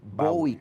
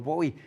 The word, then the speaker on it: Bowie: Pues sí, fíjate, porque fue el Under Pressure tradicional, el famoso era Queen y, por supuesto, David Bowie, como yo lo pronuncio.